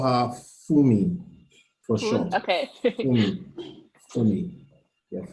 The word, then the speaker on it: Funmi: The IBM representative, how do you pronounce her name? Her name is well, just call her Funmi for short.